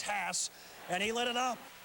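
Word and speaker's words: Haase: transfer from Cal Berkeley used to be pronounced cost now it's Hass and he lit it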